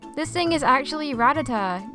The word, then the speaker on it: Rattata: I biar not bibero this thing is actually ratata not rata teig a lot of people refer to this thing